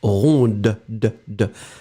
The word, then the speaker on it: ronde: You will only pronounce it when you put the feminine form, so you add this in the end, and then you will pronounce ronde.